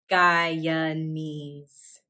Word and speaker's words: Guyanese: people from guyana are guyanese gaya knees notice the second syllable in guyanese is a schwa next up haiti haiti